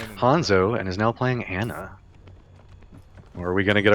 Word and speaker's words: Ana: It's pronounced Ana. You'll get a lot of flack if you pronounce it Ana, apparently.